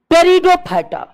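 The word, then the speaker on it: Pteridophyta: सबसे अंत में एंजियोस्पर्म टेरिडोफाइटा पी इसका साइलेंट रहता है नहीं भी लिखेगा तो कुछ नहीं चले होगा लेकिन जितने भी राइटर है सब पी लिखते हैं तो हम काल छोड़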